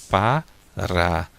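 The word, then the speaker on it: פָּרָה: Porém, quando a letra Rei aparece no final da palavra, ela se torna muda, não tem som. Então, nós vamos ler aqui, ó, o som de P, da letra P, e depois A, Pá. Depois o som da letra Resh, né, o som do R, Ra. E aqui fica mudo. Então, a gente vai ler Pará, Pará.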